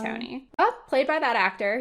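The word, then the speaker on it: Colantoni: Calatoni? Calatoni. I thought it was Colatoni. Is it Calatoni? The Veronica Mars podcast I've been listening to says Calatoni. So then if they're Enrico wrong... Calatoni.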